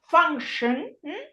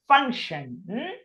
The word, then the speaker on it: function: That many times it is pronounced as an A, like in difficult, or here function.